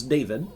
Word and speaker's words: Daphiid: It's David, but it's spelled very, very differently for American people.